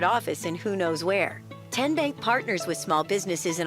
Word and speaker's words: TNBank: How do you say the name TNBank? Nope. Tin Bank? Uh-uh. So, what is it? Ten Bank. Ten, as in Tennessee, right here where all our banking decisions are made.